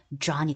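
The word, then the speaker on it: John: 자 그런데이 j가 그렇게 발음 난다는 거 요한이라고 하지만 여기 영어로 발음될 땐 J 발음을 넣어서 Joh이 됩니다.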